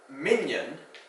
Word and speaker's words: minyan: Not to be confused with minion, like the minions in the movies, or the literal minions, underlings, or mignon, a shade of purple, or mignon, daintily small or petite. Words that can be easily confused, homonyms, close homonyms.